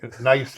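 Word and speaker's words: gneiss: it there you go so when you say nice is that the The Rock to spell with a g g n i pronounced in the German e i in German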